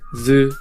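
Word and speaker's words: ず: Su with the Dakten is pronounced zu.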